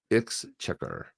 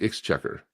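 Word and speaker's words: Exchequer: How do you pronounce it? X checker. It's called X checker. Is it? That's what it says. Hit the play button. So, see what it says. Oh, you're not. It's X checker.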